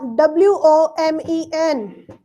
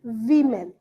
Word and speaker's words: women: you didn't say use you say used uh w o m e n what is this what is this I know the spelling is not but that's how you pronounce it man woman men women v v women women okay women otherwise there's